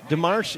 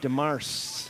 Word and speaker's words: DeMarce: It is, yeah, she said it's pronounced. DeMarce is pronounced D-E-M-A-R-S-E. DeMarce. DeMarce. Not your French pronunciation, but she liked it. She said it sounds good.